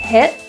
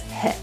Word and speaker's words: hit: Both T's in this phrase are pronounced as a glottal T, hit and jackpot. So those T's are not released through the mouth, but kind of held in the glottis, hit.